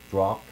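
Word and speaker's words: Strzok: husbands of the key people for example Peters drop his name is pronounced drop lunge with soft it's STR Z okay his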